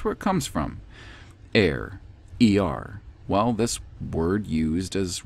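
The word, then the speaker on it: הר: And that word is Er, E-R, Er. Of course, most people who believe in the Masoretic coding of the Hebrew scriptures would pronounce it as Har.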